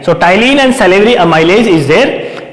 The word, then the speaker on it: ptyalin: Another name is ptyalin. T is silent, that's why it is called ptyalin. So ptyalin and salivary amylase is there in the saliva.